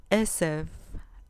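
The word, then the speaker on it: עשב: Esev, esev, con acento en la penúltima sílaba.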